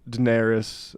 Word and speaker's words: Daenerys: mashup that I think captures this white feminism Daenerys that's how you pronounce the name right Daenerys yeah I'll have